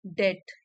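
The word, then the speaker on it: debt: यह उधार चुकाना दैट डेट डीई बीटी में बी साइलेंट है डेट मींस कर्ज यह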